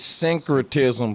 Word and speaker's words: syncretism: write it down far time so I could pronounce it right every time it's syncretism but guess what on some real [ __